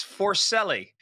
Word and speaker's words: Forcelli: But it's Forcelli.